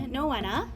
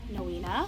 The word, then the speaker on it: Noena: It's pronounced Noena, not Noena, not Nona, and not Moana.